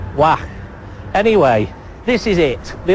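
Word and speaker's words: Waag: It's called Wacht. Well, I'm told that's how you pronounce it. W-A-A-G. Wacht.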